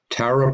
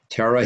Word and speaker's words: Tara: Tara, pronounced Terah by many. Some pronounce Tara to sound like Terah from Genesis, others like Tara.